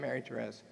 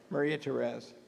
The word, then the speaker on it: Maria Perez: How do you say her name? Everybody knows who she is. Stand up and say your name, Mary Perez. Maria Perez.